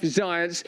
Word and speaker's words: Zients: Check out once more Jeff Zients. His name rhymes with science, and he's yearning for a winter of death.